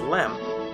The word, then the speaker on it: LM: called the lunar module the abbreviation would change from LEM to simply LM but pronunciation did not change as some felt was still far easier to refer to the craft as lamb the second decision came